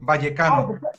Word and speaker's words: Vallecano: Rayo Vallecano. Rayo Vallecano. The V is almost a B. Vallecano.